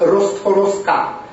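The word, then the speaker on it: Rostworowska: explicación es la siguiente en idioma polac la terminación de los apellidos cambia en función del género de la persona considerada así mientras un caballero lleva el apellido rostowski una señora de la misma familia se llamará rost forska con la a final claramente pronunciada dado que la doctora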